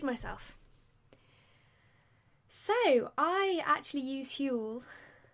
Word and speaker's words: Huel: so I actually use Huell that's how I'm choosing to say it like fuel but who to fill